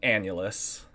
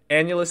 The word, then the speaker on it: annulus: two-dimensional shape though we we would call an annulus okay annually can you spell that in the chat a-n-n-u-l-u-s P it's a